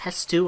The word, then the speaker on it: Hestu: I think it's pronounced Hestu, I'm not sure.